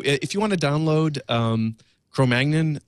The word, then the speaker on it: Cro-Magnon: I pronounce it as the French, Cro-Magnon.